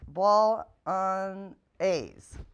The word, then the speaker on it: bolognese: the menu today is a recipe called whitetail bolognese that's pronounced ball on a's anyway with all the hunters in our household